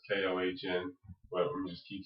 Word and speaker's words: Kony: story with uh with con which is actually pronounced Kohn but I'm just keep saying conies because people will know what I'm saying but